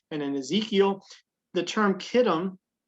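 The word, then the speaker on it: Kittim: it's certainly here in isaiah 23 and in ezekiel the term kitten we see it spelled sometimes with a ch um but it's still pronounced kittem uh generally speaking it's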